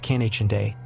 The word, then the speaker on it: Kynande: Her name was Cananda, pronounced Kiche.